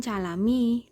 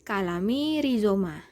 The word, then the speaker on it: Calami Rhizoma: Ini bacanya bukan calami tapi kalami rizoma ya.